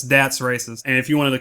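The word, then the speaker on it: Das Racist: no for a long time I call it dos racist and I was completely wrong it's dat racist and if you wanted a context for that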